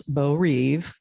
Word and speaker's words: Beau Rev: So Beau Rev, which all the locals pronounce Beau Reeve, is completely fictional.